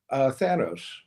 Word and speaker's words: Thanos: How do you pronounce the Mad Titan's name? Thanos.